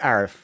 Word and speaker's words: Arif: I pronounce it Arif. Okay. Arif, yeah. So, but there are one or two other Arifs or other ones in the industry who might pronounce it otherwise. But I'm born and raised in Montreal, and that's the easiest. It's not even the traditional way of saying it. Traditional way is with a hard A.